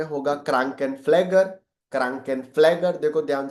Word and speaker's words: Krankenpfleger: Nurse का German में होगा क्रांकेनफ्लेगर. क्रांकेनफ्लेगर. देखो ध्यान से, मैंने बाजू में प्रोनाउंसिएशन इसीलिए लिख के रखे, क्रांकेनफ्लेगर.